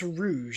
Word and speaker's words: Rouge: It's it's it's pronounced rouge, isn't it? Like the color, right?